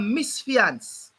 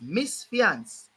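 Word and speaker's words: misfeasance: in a b mash up something it's called Mis fiance that's how it's pronounced Miss fiance yeah Mis fiance that is the word know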